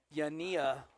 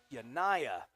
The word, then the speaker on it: Yania: It's the catcher, number 17, Yania Begay. And I apologize if I mispronounced that, but I think that's how you say it. 2 outs. And that is Yanaya. See, got corrected already.